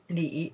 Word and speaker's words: 里: Okay, so then here, this way pronounced li, right? And this one pronounced ne.